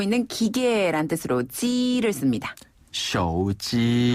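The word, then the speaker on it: 手机: 네, 휴대전화를 중국어로는 手机 라고 하는데요. 手机. 네, 여기서 手 는 손이라는 뜻을 가지고 있어요. 네, 손 숫자를 말하는데 네. 손으로 그다음에 들고 있는 기계란 뜻으로 지를 씁니다. 手机.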